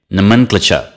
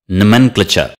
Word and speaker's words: nomenclature: cloture nomenclature nah meant Fletcher nomenclature it's just the second syllable repeat after me nomenclature nomenclature